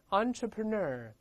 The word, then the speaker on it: entrepreneur: 大声我们读一下 entrepreneur，读成 entre，然后 ner 是重音在后面，在里面 entrepreneur 叫做企业